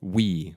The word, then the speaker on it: VVE: to the film and the band is called we which is spelled vve and they just put